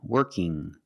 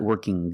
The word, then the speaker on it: working: When you have ing at the end, it makes a sound working. Not working g. There's no g sound. It's the sound working. Now sometimes when you see ing, you hear workin', workin'. That's also correct pronunciation. You can say working or workin' with the N sound.